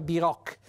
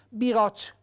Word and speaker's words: biroch: cioè mangiare in fretta il biroch è Il Carrettino che non si pronuncia bi Rock biroch con la dolce paigola